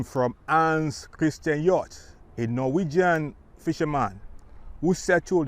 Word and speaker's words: Hjorth: greetings from yacht road park spelled h-j-o-r-t-h i hope i got the pronunciation correct i'm here today for